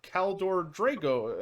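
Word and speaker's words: Kaldor Draigo: And this matches very, very well with a particular character from the ever infamous Grey Knights, the extremely infamous character Kaldor Drago, I think, if I'm pronouncing it correctly.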